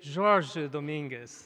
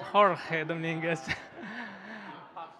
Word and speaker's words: Jorge Dominguez: My name is Jorge Dominguez, not Jorge Dominguez. I am a native from Brazil, and it was very difficult for him to differentiate the pronunciation between the Portuguese and the Spanish.